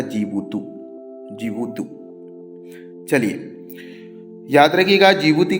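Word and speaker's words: Djibouti: डी से चालू होता है। डी साइलेंट रहता है। नाम है इसका जीबुतू।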